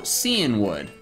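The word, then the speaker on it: Cianwood: about apparently seeing wood it's from the cyan like the color cyan you know how it's like magenta yellow cyan it comes from that and wood but it's pronounced in the show seeing wood so it's like why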